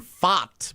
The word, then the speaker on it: Pfaadt: Tonight, the Arizona Diamondbacks pitcher tonight is Brandon Pfaadt, P-F-A-A-D-T.